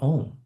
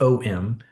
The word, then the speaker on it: Om: But not just OM, the phonetic sound or syllables of Om, A, A, U, U, and M.